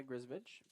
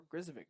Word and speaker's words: Grizovic: Now will be picked up by Grizovich, and we'll see what BW can do. Or Grizovic, excuse me. Looks like on the back here pronunciations. Grizovic. I did think that was the case, yeah.